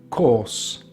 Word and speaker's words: course: So we also have our can spell this uh this sound such as: course course so you have ca or s ca or s course course again the the e is silent another example source source